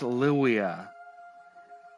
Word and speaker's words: Livia: or bone don't mind Livia she means well it would be pronounced louia in Rome she's just been in a bad place since V was basically pronounced like a w there's a reason why